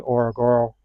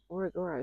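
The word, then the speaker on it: Ngorongoro: From Zambesi, we're going to go to Orogoro Crater. Very good. You said that right. Yeah. Orogoro. It starts with an N. That's what's confusing.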